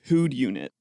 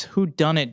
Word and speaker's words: Whodunit: The title on the box just says Who'd Unit. Okay, can you spell that? WHODUNIT. Oh, it's Who Done It, Jared.